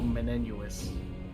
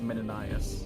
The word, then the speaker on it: Menenius: A guy who I used to call Menenius, but is actually pronounced Menenius, or something along those lines.